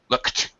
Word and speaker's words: looked: looked up at looked looked looked looked yeah don't put a vow between don't put a vowel between the K and the T looked one more time